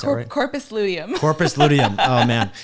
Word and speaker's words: corpus luteum: happens when women ovulate in the association with accordius lupum did I pronounce it Corpus corpus luteum oh man it's been a long day already